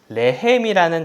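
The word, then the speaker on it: לחם: 있어요 근데 재밌는 건 히브리어로 싸움이라는 라함이 있는데 라함이라는 단어와 빵의 뜻인 레헴이라는 단어가 철자가 똑같아요 여기 점을 찍어서 어떻게 발음하느냐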